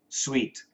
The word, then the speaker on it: suite: Same pronunciation, but the spelling is different. S ui t e s ui t. Sweet.